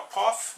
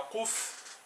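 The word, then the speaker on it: Qof: O próximo aqui é o Kof, né? O Kuf, que é um Q, só que para emitir esse som a gente deve abrir a boca também, ó, abrir a boca e pronunciar a vogal E.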